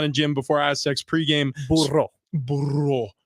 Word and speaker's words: Burro: Burro. Got to roll your R's when you say Blind Burro.